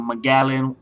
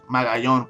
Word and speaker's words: Magallon: His last name gotta be fucking Magallan. It's actually Magallon, but shit, if you really see how it's spelled Magallan.